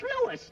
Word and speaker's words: Louis: story at the plant Lois Lois my name is Lewis not Lois Jake Williams everybody in toy believes me name wrong it's Lewis l o u i s Lois uh Louise Lucy